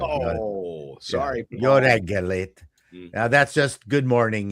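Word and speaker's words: jó reggelt: trick with Hungarian is to emphasize the first syllable.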